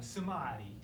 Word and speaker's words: Samadhi: taking some adi is Samadhi exactly exactly you can say I like an Italian or let me say it like a Hindi hey you all see it like I tell you Samadhi so so we do